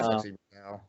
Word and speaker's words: Sexy Brutale: Sexy Brutale.